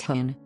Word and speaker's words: houn: The name Stabij translates roughly as stand by me, with the last part simply Frisian, meaning dog, which is pronounced hoon.